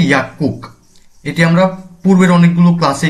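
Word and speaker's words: 약국: যেমন এখানে ইয়াকুক, গিয়কের পর আবার গিয়ক এসেছে, উচ্চারণটি হবে ইয়াকুক।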